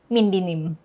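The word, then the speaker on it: mindnim: ก็คือชื่อของเราเนี่ยแหละ มายด์ไง m i n d ข้างหลังก็เป็นมายด์เหมือนกัน แต่ว่าเขียนกลับหลัง เป็น m i n d n i m ก็เลยอ่านว่า mind dinim เท่ห์ป่ะ เข้าใจและ แต่ใครมันจะไปรู้วะเนี่ย อืม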